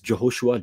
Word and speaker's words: Jehoshua: We believe his name is Jehoshua, Joshua, pronounced that way anciently in the correct.